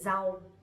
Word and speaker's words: rau: Nowadays we don't really pronounce that strongly, but instead we say z. Z. Like to z. So for example, vegetables we would say rau.